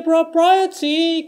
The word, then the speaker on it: propriety: っていう感じですね。Modesty propriety can lead to notoriety. Modesty propriety can lead to notoriety. はい、これちょっとね、謝罪しなきゃいけないというか、まずそもそもこの曲簡単じゃなかったなっていうのはちょっと訂正なのと、もう一つはこれカタカナで書く方がむしろ分かりづらくなるっていうパターンですね。結構大変です。ちょっといろいろ気をつけないといけないんですけど、まずね、これモレスティっていうのはですね、これ珍しいんですけど、D が日本語のラレレロっぽく聞こえるパターンもあります。ただこれ別に D でもいいです。モデスティでも全然問題ないです。ただ実際の発音はちょっとモレスティっぽいですね。modesty っていう風に、日本語のレっぽく言ってます。propriety はい、これですね。pro まず p と r の間開けません。pro